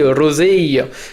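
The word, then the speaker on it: rosée: avez un féminin, vous voyez les deux E, il faut vraiment entendre les deux E, parce que c'est ce qui va distinguer le féminin du masculin. D'ailleurs, ça existe toujours dans certaines régions, de prononcer rosé quand c'est au féminin.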